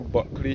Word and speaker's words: Bulkley: And we can see the former Buckley Sugar Factory, which is in St. George. Buckley is in St. George. Buckley is spelled Bulkley.